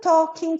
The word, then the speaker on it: talking: So, I just did me some talking to the sun. A pronúncia desse, que a gente usa talking, não vamos usar esse L não pronuncia.